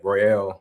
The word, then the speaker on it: Royale: But yeah, Royale. Um, that's that's how you pronounce it.